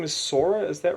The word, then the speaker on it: Sora: is I think the main character's name is Sora is that right that is right they have